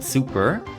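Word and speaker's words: SuperS: Um, the third season being Sailor Moon S or Sailor Moon Super. The fourth season, Sailor Moon Super, like Super S, but it's not actually pronounced that way.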